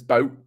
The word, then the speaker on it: Boot: it's actually Das Boot double O is pronounced o like so it's Boat Boat is boat I